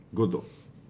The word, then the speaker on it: Godot: l'ultimo maestro è godot ecco perché è godo e non è scritto con la di in giapponese perché è la traslitterazione in katakana di come lo pronunciano loro godot è sì adesso ha senso papa benvenuto agli uffici non capivo come mai avevi messo la t a senso è giusto mettere latte effettivamente è muta praticamente cosa perché cavolo sei